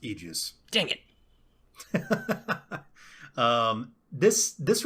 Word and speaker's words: aegis: talk to me about this well mike it's pronounced aegis dang it um this this reminds me of